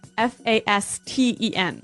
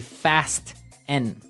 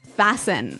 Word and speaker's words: fasten: It's spelt F-A-S-T-E-N. Right, so it would be fast N. No. No, right? Fasten.